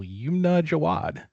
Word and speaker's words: Yumna Jawad: Please welcome to the podcast the incredible Yumna Jawad.